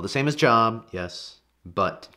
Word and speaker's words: Job: son has a name and his name is job j o b job spelled the same as job yes but pronounced job job is a character in the